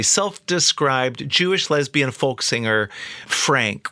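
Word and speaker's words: Phranc: Jewish lesbian folk singer Frank with a pH and a hard C is how she would always describe herself Frank got out there by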